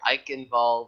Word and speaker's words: Eichenwald: But folks, here we're gonna enter in the third map of a match here, Eichenwald, with the German pronunciation there, and I am hella excited for this.